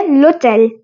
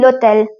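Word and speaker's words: l'hôtel: Last नहीं है, ठीक है, होटल, ठीक है, हो गया लोटेल, L फिर एक और एपोस्ट्रोफी, HOTEL। होटल की तो स्पेलिंग सेम है, बट बोलते हैं लोटेल।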